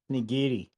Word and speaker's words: nigiri: So the craft is salmon nigari or nigri. I don't know how it's pronounced. Because I just read weird. Say that again? Nigiri. Now, there you go.